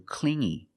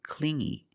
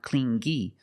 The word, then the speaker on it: clingy: So she broke up with him because he was too clingy. You hear the sound only the nasal sound here, no G, not clingy, but clingy, clingy.